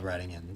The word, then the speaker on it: Reading: It's spelled Reading in Pennsylvania. Yeah. I figured. But pronounced Reading.